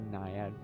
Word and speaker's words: naiad: I think it's a naiad. It is a naiad. That is how you pronounce it.